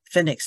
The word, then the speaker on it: Phoenix: 地方去啊，Phoenix 那个 O 不发音哈，注意 Phoenix，